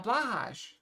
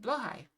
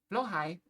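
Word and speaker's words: Blåhaj: with someone else and they called it a blahage or blah. Um, I've always heard it pronounced blowhai because one of the people I watch is Swedish. So he pronounces it blowhai and technically that's correct because it is from IKEA.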